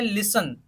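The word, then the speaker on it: listen: टी ए एन तो इसको हमें क्या पढ़ना है लिसन क्या पढ़ना है ल आई एस ए एन लेसन पढ़ना है टी को साइलेंट रखना है लोशन का मतलब क्या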